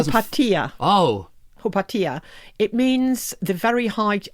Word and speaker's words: Hypatia: Yeah, well Hypatia is such a weird that's a sort of Victorian pronunciation. Yeah, I was going to say it doesn't Hypatia Oh. Hypatia.